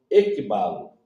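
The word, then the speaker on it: ἐκβάλλω: a palavra conduzir é traduzida do termo grego equibalo equibalo se escreve assim e k b a l l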